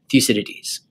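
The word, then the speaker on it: Thucydides: historian an Athenian historian named fuses fuses so it's kind of a tricky word but that's how you say it thees and thees was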